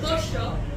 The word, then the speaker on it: pollo: What we like to do is the Y and the double L sound. We pronounce it like a shit. So if I wanted to say chicken, I would say pollo. If I wanted to say street, I would say calle.